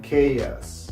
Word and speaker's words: chaos: Sometimes CH it is pronounced like K. For example, mechanic, chemistry, chemical, and chaos.